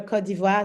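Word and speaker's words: Côte d'Ivoire: I'm from Kivoir, Ivory Coast, but yeah, we prefer Kodiva.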